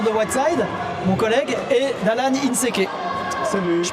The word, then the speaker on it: Allan Inséqué: Euh en compagnie toujours de Wide, mon collègue et Dalan Inseke. Salut. Je prononce bien ou pas ?